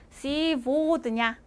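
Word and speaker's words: сегодня: 자, 시 고드냐라고 써있지만 얘 고는요. 이 보라고 읽혀요. 그래서 시보드냐, 시보드냐.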